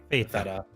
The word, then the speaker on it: feta: No, but actually pronouncing the T like properly like feta.